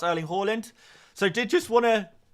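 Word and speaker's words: Haaland: end there is the Norwegian pronunciation of earling Harland Harland is a a kind of a an angl sized butchering of the name that actually hland himself quite likes for his branding he kind of changed his changed the way he wants people to say his name for Branding outside of Norway but I did just want to confirm the way I say Holland is not incorrect it is just the Norwegian pronunciation and you guys hopefully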